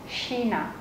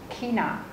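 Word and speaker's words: China: chính là Shina Shina từ Shina có hai cách đọc các bạn có thể đọc là Shina hoặc là kina Shina hoặc là kina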